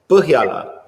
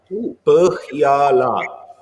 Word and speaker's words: Põhjala: Põhjala. Põhjala. Põhjala. Very good. There we go. That first try. That's superb, guys. Põhjala. Yeah, so it's pronounced like it's kind of unique letter, but yeah, I think everybody is capable actually saying it.